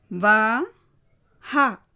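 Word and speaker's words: वह: மூன்றாவது வா ஹா. வா ஹா.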